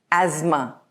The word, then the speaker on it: asthma: In British English pronunciation, this word is pronounced as asthma. And in American English pronunciation, it is asthma. The pharmaceutical company has launched a new inhaler for asthma patients. Now notice the T is silent.